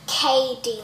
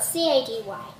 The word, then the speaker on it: Katie: name is katie pronounced KD like k and d it's not CA dy so i was thinking